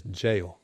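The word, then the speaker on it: gaol: Why they keep putting people in the goal and why can't they spell it right? Oh, that's jail. Oh, okay. Wait, they spell It's jail with a G? Yeah, G-A-O-L.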